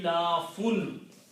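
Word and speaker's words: إيلاف: The pronunciation of these 4 combined will be ilafun. Okay? Alif and alif, these 2 will pronounce E. So I can write down just like that. E. And la fun.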